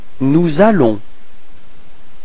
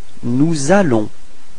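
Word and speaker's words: nous allons: Nalon. So you can notice the leazison between S and R. Nalon. Repeat. Nalon.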